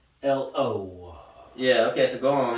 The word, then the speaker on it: Chikatilo: Andre Chikatilo. Yep, that's how it's pronounced. Chikatilo.